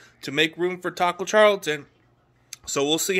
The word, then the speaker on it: Charlton: who likes tacos and it rhymes with Carlton you know Carlton Banks but the San Francisco 49ers have signed veteran defense alignment Taco Charlton yes he was a